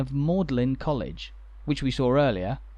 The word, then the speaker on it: Magdalen: the church's name is in contrast to the pronunciation of maudlin college which we saw earlier and which is